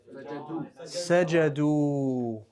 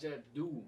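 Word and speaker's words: سجدوا: Now, we write with that wow an alif. It's not pronounced. It's just there. It's written, not pronounced. Sajadu, right?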